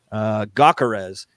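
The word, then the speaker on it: Gyökeres: his name is, the pronunciation is, let's see. Gakarez, which G-Y-O-K-E-R-S.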